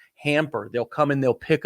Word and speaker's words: Hampr: It's called Hamper. It's spelled Hampr. Hamper.